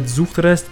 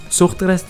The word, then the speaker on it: Zuchtrest: Sometimes I said Zuchtrest because that's how you say it if you're American or English. And then I said Zuchtrest sometimes, which is how you would say it if you're German. And I'm German.